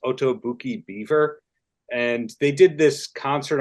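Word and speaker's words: Otoboke Beaver: so much uh oh I think it's pronounced otobuki beaver and they did this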